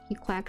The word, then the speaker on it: GQuuuuuuX: Like actually Gquax for 6 years. It's pronounced like this in JP.